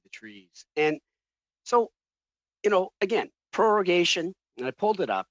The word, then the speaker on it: prorogation: And it's taken me about a month and a half now to actually say it correctly, prorogation.